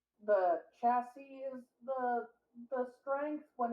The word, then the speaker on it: chassis: Physical capabilities afforded by mechanical chases are around the same chassis? Might be cases. I'm gonna look it up to see how to pronounce it.